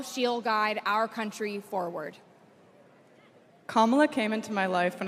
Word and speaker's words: Kamala: Put it together, and it's 1, 2, 3, Kamala. All right, so let's practice. Let's practice. Everybody over here, say comma. Everybody over here, say la.